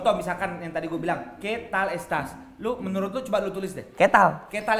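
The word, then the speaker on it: qué tal estás: It's ketal ketal es tas. Jadi sebenarnya, tulisannya adalah que tal estas.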